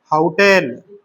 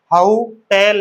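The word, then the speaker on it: hotel: इसका उच्चारण है हाउ टेल। फनेटिक्स की लैंग्वेज लिख दी है मैंने। हाउ टेल। तो एच क्या आ जाएगा फिर? ए एन मत भर देना ओ टेल करके उच्चारण क्या है? हाउ टेल। तो हाउ टेल उच्चारण है।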